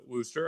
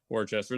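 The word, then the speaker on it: Worcester: I know it's uh Worooster. I know it's not Wararchchester.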